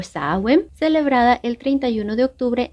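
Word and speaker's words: Samhain: la festividad celta de Samaín, que se pronuncia algo así como Soen o Saem, celebrada el 31 de octubre en las comunidades europeas de Irlanda, Gales y Escocia.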